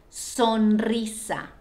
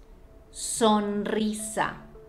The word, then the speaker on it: sonrisa: It also happens when the R is within a word and is behind a consonant that will end up in a different syllable when you separate the word. For example, sonrisa, sonrisa, smile.